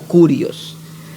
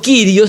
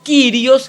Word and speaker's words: kyrios: particular el término kyrios algunos hermanos lo producen lo pronuncian como curioso el término kyrios es un término de